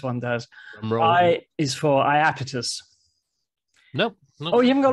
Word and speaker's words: Iapetus: So Iapetus is a moon of Saturn. It's also sometimes written, for some peculiar reason, as Japetus with a J. So Iapetus is spelled Iapetus, but it's also known as Japetus, Japetus.